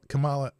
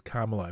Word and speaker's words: Kamala: point it out that uh he said Kam Kamala Harris it's Kamala if you pronounce her name wrong it's racist and of